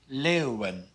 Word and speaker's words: leeuwen: The EEU blend is pronounced eeuw, like in leeuwen.